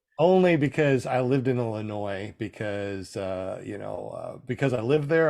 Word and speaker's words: Illinois: Illinois. Why does Illinois have a S at the end if you're not supposed to pronounce it? You know? I know, and when you hear people say Illinois, it just makes your skin crawl.